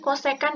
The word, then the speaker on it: kosekan: Nah, kosekan theta, ini bacanya kosekan ya.